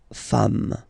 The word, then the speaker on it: femmes: Okay, femme, you write it like it was at the singular form, and then you just add this s at the end, and as we said, you don't pronounce it, so you get des femmes.